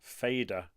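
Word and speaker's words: Fadr: I'm using one called Fader, and it's spelt like F-A-D-R, Fader.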